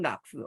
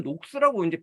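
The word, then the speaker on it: Knox: 캘빈이즘 캘빈의 사상을 영국에 존 락스 뭐 존 녹스라고 하는데 뭐 보통 그쪽 사람들만 닥치라고 발음하더라고요 저는 둘 다 발음 뭐 나쁘지만 이 좋은 녹스가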